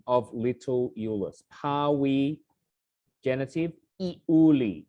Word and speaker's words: Iuli: So in the misfortune of little Euless, pawi, genitive, iuli. So just as a reminder, it says in scansion file, that is 3 syllables.